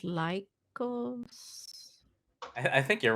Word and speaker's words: Lycos: greek for wolf but i think it's an american company so it's pronounced lycos i think you're right